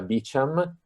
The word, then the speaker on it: Beauchamp: due autori sono inglesi ma sapete che ovviamente beauchamp evidentemente di origine francese lo sapete che gli americani perché non c'era tutto a modo loro quindi questo questo il primo nome si pronuncia beacham il secondo me si